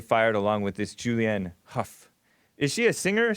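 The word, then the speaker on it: Hough: Huff, it's pronounced like Huff, Julianne Huff.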